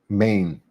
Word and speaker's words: Maen: those uh micro brands main I think is the way you pronounce the name of this brand, right?